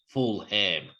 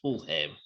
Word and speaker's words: Fulham: in my Aussie youth, I'm pretty sure I might have pronounced it as Full Ham. So it's West Ham versus Fulham.